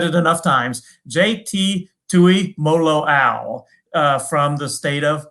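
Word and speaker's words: Tuimoloau: right jake i've said it enough times jt tui molo al uh from the state of washington once again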